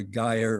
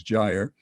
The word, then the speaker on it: gyre: pendulum and another uh i call a guyer or gyre usually i think the pronunciation is gyre and you'll see how